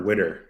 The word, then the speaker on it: Widder: I guess not to put you on the spot, but my last name is pronounced Widder. Yes, Widder.